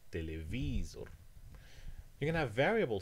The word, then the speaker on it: telewizor: You can have it like in Polish, which is second to last, as in telewizor.